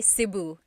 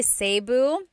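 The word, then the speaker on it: Cebu: it seu or SIU so technically in the alphabet the letter e can be pronounced e or E like the letter I so I say SIU SIU and I know some people say seu but usually it's either SIU or sebu good question all right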